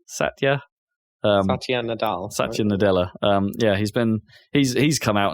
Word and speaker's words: Satya Nadella: Satya, how do you pronounce his name? Satya. Satya Nadella.